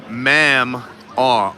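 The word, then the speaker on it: Mamaw: Brady says, LOL, it's real country, pronounced ma'am-aw.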